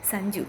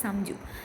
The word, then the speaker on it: Samju: I mean, with Sanju, it's a little bit hard to remember the pronunciation of that name because sometimes we mistake it as Sanju. It's Samju.